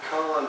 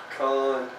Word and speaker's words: pecan: I tell you what, it has a pecan praline flavor to it. Now, that is the correct pronunciation of the words pecan and praline.